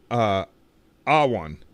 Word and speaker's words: Awan: Why do I always get his name wrong? Awan.